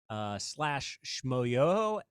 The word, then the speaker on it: Schmoyoho: But you can look at our YouTube videos or our TikToks at /Schmoyoho, SCHMOYOHO, accent on the yo.